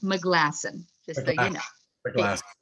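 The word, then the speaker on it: Maglasson: It's pronounced McGlasson, just so you know. McGlasson. Thank you. You're welcome. McGlasson sounds like a good Scottish name or Irish.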